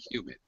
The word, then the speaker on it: humid: Humid. In the humid is the first syllables, is the stress.